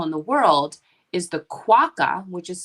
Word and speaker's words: QUOKA: with 2ks they were it's pronounced quaka in australia but everyone pronounces it quoca when they read it here in the u.s and then when we